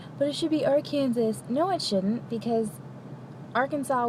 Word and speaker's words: Arkansas: Fun fact about Arkansas, in case you didn't know this.